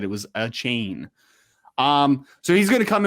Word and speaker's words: Achane: we can wrap up here yeah uh devon a chain is how you pronounce it apparently you determine that for sure